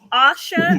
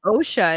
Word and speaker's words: Osha: my bowels any who so Asha OSHA there's a couple of characters kind of mispronounce it a few times it's like my name people be Taking Liberties they give her the times oh her name is OSHA and every time I